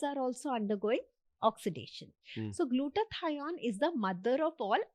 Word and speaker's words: glutathione: I can't spell it well but it's glucoine glutathion glutathione.